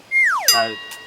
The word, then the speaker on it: ui: In Dutch we call this ui. That's a hard pronunciation for you guys. Ui.